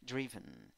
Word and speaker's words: driven: En la primera sílaba, I con puntito, significa I débil, I que se duerme. Segunda sílaba, schwa, a. No es ni A, ni E, ni O. No tiene fuerza, no hay tensión. Driven, driven. Número 7, o número 8,